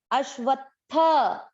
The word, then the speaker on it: अश्वत्थ: ध्यान दें, अ है, अ के साथ आधा श अश, व के साथ आधा त वत, और ये थ है। त और थ में भी उच्चारण क्लियर सुनाई आए, वत थ। इस त को भूलना नहीं है। अश्वत्थ, अश्वत्थ। थ पूरा, इसलिए थ में अ मिक्स कर दिया।